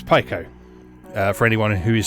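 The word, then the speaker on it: Piko: pico interactive collection um i believe that pico is actually the correct pronunciation because they changed their logo a while back and they made a big deal of the pie symbol um so i guess it's pico uh for anyone who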